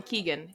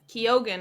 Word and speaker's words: Keoghan: that Barry keeg kogan I keep wanting to call him Keegan kogan is how you say his last name um he's been